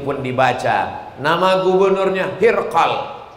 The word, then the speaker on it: Hirqal: Nama gubernur itu adalah Hirqal. Ejaannya adalah H-r-q-l. Ada yang menyebutnya Heraclius, ada pula yang menyebutnya Hirqal.